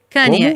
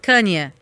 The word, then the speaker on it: Kanye: Como é que se pronuncia o nome dele? Você vai perguntar pra mim? Tá, ok. Kanye. Isso, Kanye.